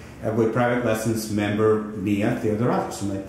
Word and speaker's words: Theodoratus: Yes, we are in New York with private lessons member Mia Theodoratus. Am I pronouncing it right?